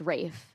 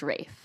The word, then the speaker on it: Ralph: his name is pronounced Rafe it's spelled Ralph and it's pronounced Rafe oh which is a